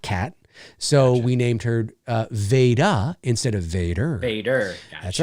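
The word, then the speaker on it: Vada: Well, Veda, first of all, is spelled V-A-D-A, like Darth Vader.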